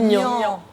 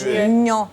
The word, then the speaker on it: Niang: Elle a dit Niang. Niang. C'est un G, c'est un G muet. C'est un gueux mieux. Muet. Niang.